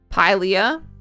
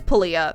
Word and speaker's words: Pilea: Pilea. I'm gonna say it's Pulia. That's how I've always pronounced it. And that's what we're going for today. That's what I've decided. It's Pulia.